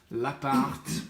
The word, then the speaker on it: L'Appart: L'appart, pronounce the T, as David mentioned in the podcast episode recently.